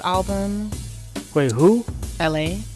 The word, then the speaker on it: ELHAE: LA. His name is LA. But it's spelled ELHAE.